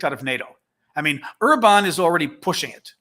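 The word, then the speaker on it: Orbán: I mean, Orban is already pushing it, or Orban, or it's Orban. I pronounce it Orban.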